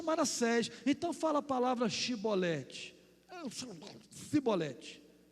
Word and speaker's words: Shibolete: Só que o pessoal de Efraim não conseguia pronunciar Shibolete. Eles pronunciavam Sibolete.